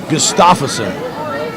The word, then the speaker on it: Gustafsson: Gustafsson. I believe I've been saying her name wrong.